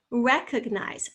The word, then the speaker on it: recognize: Recognize, recognize. Oh, I can hear that ugh. That's not og. We don't say recognize.